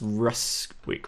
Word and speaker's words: Ruswick: down for all that all right and it's pronounced Russ week right yes awesome now you